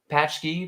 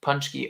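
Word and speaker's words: pączki: are the best honestly patchy pronounced punchy oh punch key or pooch key punchy are polish donuts often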